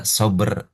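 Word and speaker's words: صبر: Asalnya sabr bnya itu sukun. Asalnya sukun shber. Karena dalam bahasa Indonesia tidak mengenal konsonan rangkap ya. konsonan rangkap yang berbeda. Maka setelah konsonan pertama ditambahi vokal. Vokal yang relevan.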